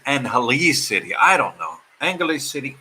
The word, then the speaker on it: Angeles City: When I got here, I was pronouncing it Angeles City. No, it's not Angeles City. Lutz says, Kapapapangans don't pronounce the G. So even I'm pronouncing it wrong. Supposedly it's Angeles City.